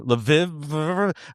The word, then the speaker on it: Lviv: Lviv International Short Film Festival.